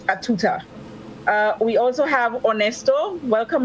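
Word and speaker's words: à tout temps: The French for at all time is a tout-temps, pronounced a tuta.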